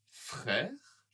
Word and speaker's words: frère: Donc, par exemple, ici, elle a un frère et une sœur. Elle a un frère et une sœur. Pas très facile, hein, cette prononciation-là. Frère, frère. Le R en français vient d'ici. Hein.